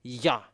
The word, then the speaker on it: Yah: And that's why when we are uh come back to the original how to read yod and hey it's yah. So let's put it back to the original.